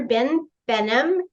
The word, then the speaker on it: Behnam: Behnam. Did I pronounce that right? That's correct. Yeah, you call me Dr. Ben. Easier.